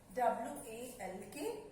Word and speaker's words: walk: W-A-L-K. walk. Children, here this L is silent, है ना?